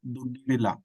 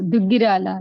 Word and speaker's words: Dugirala: Padma Dugirila. Kshamyatam if I did not pronounce the name correctly. Oh, Dugirala, yeah, is it?